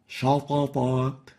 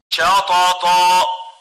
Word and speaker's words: شطط: it velarization, tafkhim, and the person tends to pronounce it wrongly as shatata, while the right way of pronouncing it is like this. شطط Shatata, shatata. So we don't velarize the sheen, yet we velarize the two letters following it.